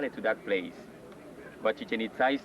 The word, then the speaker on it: Chichen Itza: Chichen Itza, this is the right way to say Chichen Itza. No chicken itza or chicken pizza like some people say.